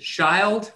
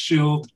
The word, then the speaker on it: Shield: up is Mr um is it shild or Shield um I may end up calling you Ira a lot hi sir how are you I'm here now it's spelled Shield it's pronounced Shield um and you can